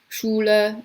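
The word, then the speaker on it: Schule: feature of German phonetics SCH sounds like English English SH that makes sense like Shula and Oh school is different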